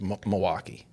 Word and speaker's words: Milwaukee: from from Milwaukee yes Milwaukee you don't actually pronounce the L's in there right it's Milwaukee Milwaukee yeah that's I knew